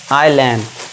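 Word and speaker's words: island: यदि आई के बाद एस हो तो वहां पे एस हमारा साइलेंट होगा। आई के बाद एस आ गया तो उसे क्या पढ़ेंगे हम? आइलैंड। ठीक है? यहां पे एस साइलेंट है।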